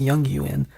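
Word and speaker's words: Jungian: The white rabbit from Alice in Wonderland is used in Junguin, actually pronounced Yong Yuan, psychology, where it says that it represents a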